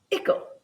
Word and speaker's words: icle: first want to appreciate that ickle on its own from an English alphabet standpoint, without knowing its history, which I will share in a moment, would be pronounced as isel. However, because the term article is commonly used in the English language, we've all been conditioned to pronounce it as ickle.